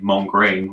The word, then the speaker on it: Mongrain: in Montreal named erik mongrain I'm probably not pronouncing that correctly Eric ER ik and the English way would be to say mom crane which is m 0 ng Rai n okay hey he's a